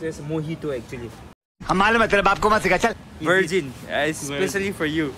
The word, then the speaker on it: mojito: It's pronounced as mojito actually.